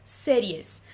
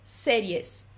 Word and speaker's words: series: Em espanhol, ver series. Muda pouquinha coisa aí entre o português e o espanhol, muda um acento, muda a pronúncia, né? De ver séries, ver series.